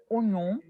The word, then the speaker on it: oignon: La OI ne se prononce pas OA, se prononce on.